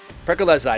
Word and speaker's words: Proli: go to Briarcliffe Xavier proli proli is how you say the last name from Briarcliffe he's been